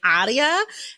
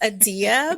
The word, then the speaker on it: Adia: pronouncing her name because I've clearly been saying Adia and it's Adia, but in my head, every A is an A.